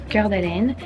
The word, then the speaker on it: Coeur d'Alene: I'm in Coeur d'Alene. This is how you pronounce it.